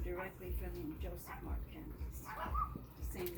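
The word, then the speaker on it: Kandijas: Candias.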